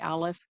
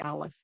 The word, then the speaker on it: Aleph: And so that Ha is that, let me say about the Aleph, because the Aleph in and of itself is a silent letter.